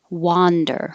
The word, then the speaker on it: wander: what's for dinner wander you have to open much more wa wander i'm going to wander